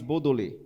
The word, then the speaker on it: Baudelaire: Olha aí essa frase, um cara chamado Charles Baudelaire, né? Escreve de outra forma, mas essa é a pronúncia, né?